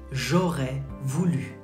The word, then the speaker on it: j'aurais voulu: You say j'aurais voulu. J'aurais voulu. J'aurais voulu. Like ou.